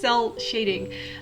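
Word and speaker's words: cel shading: some shell cell cell shading i can never pronounce that it's cell shading uh which is just shading without any gradients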